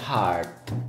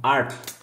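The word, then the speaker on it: Arth: Devi dire alla maestra Martina, nome mio non è Heart. Art. Dici all'H, ma alla fine.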